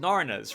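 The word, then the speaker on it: Hnara: god was awful and i think they are pronounced narna's right h-n-a-r-a is the name of the creature i've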